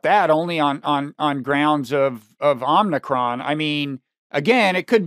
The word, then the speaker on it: Omicron: It's going to be inflationary because I think even in the best case scenario, Omicron is going Omicron, not Omicron.